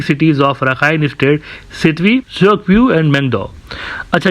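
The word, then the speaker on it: Kyaukphyu: अच्छा, ये जो इनका आप देख रहे हैं ना क्योकप्यू, कुछ इस तरह से लिखा हुआ है, लेकिन ये असल में बर्मीज लैंग्वेज में इसको चोकप्यू कहते हैं। ये प्रोनाउंसिएशन इसकी इस तरह से होती है, इसकी वर्डिंग जो है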